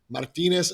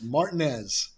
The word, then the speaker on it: Martinez: I see the name martinz Elementary and I got real excited because I thought someone there might speak my language and they quickly corrected my pronunciation it's Martinez Martinez Georgia which incidentally I've I've